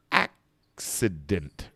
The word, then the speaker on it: accident: go another one success when they have two c's often often very often you're going to have a k a k for the first c and you're going to have an s for the second c see this it's just like a it's it's just like as if we had an x in there accident accident tracy did